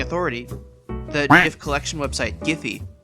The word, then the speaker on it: Giphy: the native collection website giphy says that their name is pronounced with the hard g which is super weird